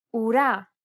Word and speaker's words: ου: Ουρά. Ακούω. Καπελού. Κουρούνα. This double vowel is pronounced like the double O sound in the word pool.